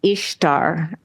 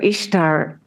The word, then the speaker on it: Ishtar: And so Ishtar is pronounced Easter in a lot of dialects, right?